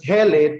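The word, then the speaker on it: Helle: girl's name is hell how do i pronounce it i'll just pronounce it as hell just let me pronounce it as hele to facilitate its spelling as well h-e-l-l-e it so happens that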